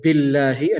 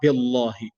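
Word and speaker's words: بِاللهِ: leads to heaviness so since the last letter before the word Allah was Kesava that's why the word Allah here is being pronounced in the light manner so we said bill here not billahi so bill he and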